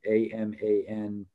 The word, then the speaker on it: amantadine: I think someone's just trying to get the spelling of those, or just the pronunciation of those. So one of them was amantadine, which is amantadine, and the other is memantine, which is MEMANTINE.